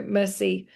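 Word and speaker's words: merci: the bottom and go mercy uh means thank you and is pronounced mercy.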